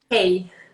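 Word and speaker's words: hej: Yeah, hey. Really? It's like that's how it is here. But not really, because it's a different, the Y is a J and it's pronounced J. So it's hey.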